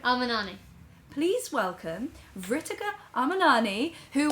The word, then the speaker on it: Amarnani: Amani. Amanani. No, Amanani. Right. Amanani.